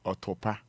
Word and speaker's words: Otopa: I was saying, Godfred, please, Roman Fada, please pronounce my name well. It is Otopa.